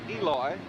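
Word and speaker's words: Elois: Grooms pronounces his first name Eloy, and he is out of the ball game.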